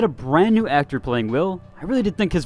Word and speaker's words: Wyll: the last video and I called him while but his name is actually will that's my apologies you